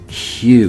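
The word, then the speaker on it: Hugh: works is because um hue is a man's name but it's spelt h-u-g-h um and so what we have here is something that sounds like that and ends up meaning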